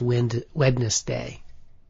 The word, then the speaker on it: Wednesday: I also pronounce the N in Wednesday. So, it's wind wedness day.